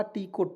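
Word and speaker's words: talk: यहां पे क्या पढ़ा टी को ट टी आई एम E time जैसे एफ आई एन E fine इस तरह से टी एल के टॉक टॉल्ट नहीं पढ़ेंगे इसको एल इसमें साइलेंट रहता है टॉक मींस होता है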